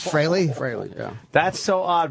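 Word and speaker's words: Frehley: spell it wrong fre but it's fry freely admits that fry is the proper pronunciation it is fry fry yeah that's so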